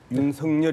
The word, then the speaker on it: 윤석열: 갑시다 윤석열 이라고 표현했는데 본인은 윤석렬 이라고 불러달라고 그러니까 옛날 우리가 hot 나왔을 때 닿아 상당히 당했어 예 어른들은 하시라고 우리 아이들은 hat 라고 그러는데 본인들이 뿔로 달라고 하는 대로 불러주는 게 정상적인 발음 이라네요 오유 명사 의 ix 는